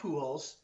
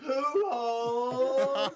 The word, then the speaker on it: Pujols: Albert Pujols. Because even though his name is spelled like Pujols, you pronounce that fucking fucking thing in Spanish, you pronounce it poo.